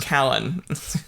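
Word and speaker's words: Cailean: means great son of Colin Kalen or oh I guess it's pronounced Kalen okay Kalen is the genitive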